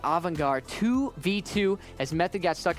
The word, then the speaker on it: Avangar: Now, Avangar, how do I pronounce that? Avangar, thank you.